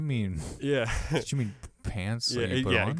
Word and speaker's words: Pance: We were called Pants, spelled like dance.